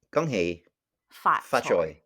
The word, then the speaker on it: 恭喜發財: 恭喜發財. Yeah. Great. Yeah. That's the face I make when somebody mispronounces something in Danish.